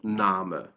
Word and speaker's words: Name: My name is, mein Name ist. You just say Name, not name.